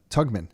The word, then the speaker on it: Togman: How do I pronounce it? Togman. Togman.